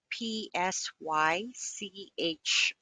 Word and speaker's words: psychic: When the letters PSY are found at the start of the word, the P is silent. Sigh, sigh. PSYCHIC.